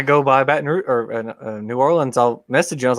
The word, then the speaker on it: New Orleans: New Orleans. Okay, I was wondering how you pronounce it differently than.